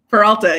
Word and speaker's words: Peralta: Peralta? Peralta, yeah, you said it right.